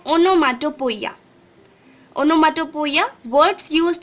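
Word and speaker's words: onomatopoeia: इट is pronounced as ओनोमाटोपोइया।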